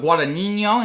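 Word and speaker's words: Guadagnino: Today we are talking about After the Hunt directed by Luca Guadinho and that is how you say I have been taking Italian on Duolingo for a few years now.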